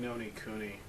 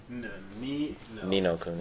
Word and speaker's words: Ni no Kuni: But I was playing Nino Kuni. Ni no Kuni. Ni no Kuni. I always say it wrong. So many ends.